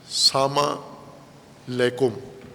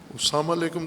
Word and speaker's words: السلام علیکم: جیسے سلام کرتے ہیں ہم، سلام علیکم، البتہ اپنے لہجے میں، بعض پنجابی لہجے میں سلام کرتے ہیں یا غیر پنجابی میں سلام علیکم، ساما لیکم. نہ ساما کا کوئی معنی ہے نہ لیکم کا کوئی معنی ہے.